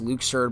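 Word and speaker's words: Luxord: moment for me and I know it's technically pronounced Luke surd but I'm gonna keep calling him Luxor because that's what I've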